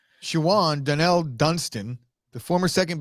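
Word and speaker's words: Shawon: That was the wait a minute, Sean Dotson? Shawan. Nah, you might have always Dotson. pronounced it Sean because, Okay, because that's how we do it.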